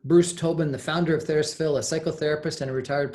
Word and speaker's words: TheraPsil: It's therapeutic, right? Psilocybin, TheraPsil. So that's an easy way to pronounce it if you're having trouble.